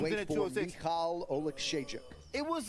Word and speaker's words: Oleksiejczuk: Michal Oleksiejczuk. It took me like a week to try to pronounce that name, but I now. finally got it. Michal Oleksiejczuk, very accurate puncher.